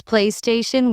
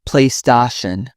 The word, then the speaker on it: PlayStation: Some pronounce PlayStation with stress on the sta. It's PlayStation.